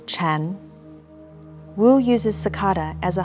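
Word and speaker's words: 禪: and child zen in mandarin chinese sakata and zen are both pronounced chan wu uses sakata as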